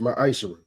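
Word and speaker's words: מעשר: Means 10th in Hebrew and is pronounced ma'asher.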